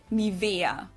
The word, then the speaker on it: Nivea: So, the emphasis is on the E. Nivea.